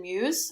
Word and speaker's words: Mewes: However, the only reason he does the one line was because Jason Mewes, that's how you say his name?